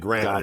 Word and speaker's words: Granite: and Granite, like the stone.